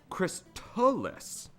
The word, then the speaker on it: Crystalis: Hammocksat says Crystalis is the proper way to say it. Like chrysalis with a T from crystal in it.